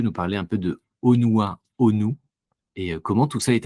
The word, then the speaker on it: Honua Honu: Alain, tu es le fondateur du projet Onua Onu, si je le prononce bien.